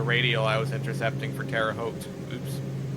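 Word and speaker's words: Terre Haute: I've also not paid attention and passed by uh the radio I was intercepting for Terraote. Oops. O, look at you pronouncing it correctly.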